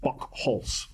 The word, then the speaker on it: Buchholz: It's pronounced Buchholz.